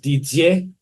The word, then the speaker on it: Didier: Throughout my life, that name's been called so many different variations, but DDA it's a common French name. It's actually pronounced Didier, and all the French guys out there will know exactly what I mean.